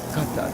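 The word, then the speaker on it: Qatar: How did you say gun? You said gun. So cutter. Yeah. G, they use a G sound. Other Arabs would call it kata with a like a K.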